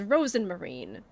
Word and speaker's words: Rosmarine: trips me up cuz the audio bark is Rosen Marine but it's spelled rosemarine or rosmarine that's going to be trippy